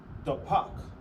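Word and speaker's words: דפק: So knock in Hebrew is pronounced dapak.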